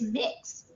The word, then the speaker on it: Mx: Mr and Miss well the gender neutral is mixed MX it's not a typo if you